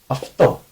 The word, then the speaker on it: αυτό: You're going to say of. For example, now this is the first word that comes to mind, which is literally similar. Αυτό, Okay, I'm not using my throat. Okay, this is called a voiceless consonant and a voiced consonant. If you want to look it up. Αυτό. Okay, so this is why I actually say this of instead of.